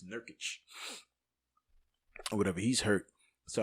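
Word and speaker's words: Nurkić: take away McCollum being that he's hurt, and Jurkic is hurt. What's his name? That's how you say his name, right? Nurkic. I think it's Nurkic.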